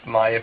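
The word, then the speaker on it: Maire: I have Megan, and I have Maya, and Maya is spelled M-A-I-R. So my wife originally was an Irish speaker, so she spoke Gaelic growing up, and she learned English till later.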